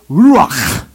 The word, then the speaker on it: ruach: In fact, in the Hebrew here, the word spirit is the word ruach.